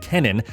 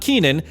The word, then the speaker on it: Kennen: a handheld known as Project Kennen, not Keenan, as I was saying in the past two videos, Project Kennen, or at least that's how it's spelled.